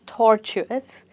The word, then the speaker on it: tortuous: So it's a crooked path alright and you stress it at tor, tortuous.